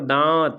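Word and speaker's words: दाँत: दांत नहीं है भाई, ऊपर बिंदी लगी होती है तो वहाँ पे ना का उच्चारण आता है, आधी ना का, लेकिन यहाँ पर दांत ऐसे बोलना है ना, तो ये दांत चंद्रबिंदु लगेगा।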